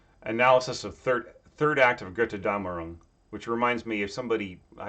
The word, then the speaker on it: Götterdämmerung: Analysis of third act of Götterdämmerung, which reminds me of somebody. There was this Wagner fan who kept pronouncing it Gute Dämmerung, and I kept a straight face.